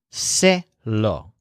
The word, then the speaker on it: se lo: lei law I'll tell but since it's law we have to spell and pronounce it as say law so I'll tell him